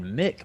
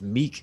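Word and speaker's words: Miek: this is me and i always thought it was he was saying mick but apparently it's meek because i was looking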